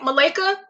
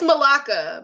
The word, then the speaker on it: Malika: Malika. Oh, don't kill me, Ms. Hubbard. It's Malaka because it's a, yeah, from Louisiana.